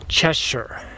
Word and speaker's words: Cheshire: Well, I've learned since from the locals that it's an old English spelling with a new American pronunciation. It's actually Cheshire.